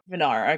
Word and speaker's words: Vanara: I don't know how to properly pronounce the race. Oh, let's see here. Is it just Vanara or Vanara? Yes, Vanara.